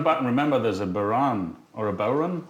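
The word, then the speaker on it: bodhrán: We're coming back, and remember, there's a Baran or a Bowron. How do you say it? Bowron, yeah.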